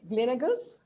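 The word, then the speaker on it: Gleneagles: for glen eagles it's glenegal's is that how we pronounce it yeah glenn hegel's global hospital said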